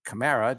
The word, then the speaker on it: Kamara: He made another spot for Madden featuring Alvin Kamara, or Kamara, depending on how you find it on the internet. LeBron saw that spot and tweeted 7 fire emojis on Kamara's Twitter feed.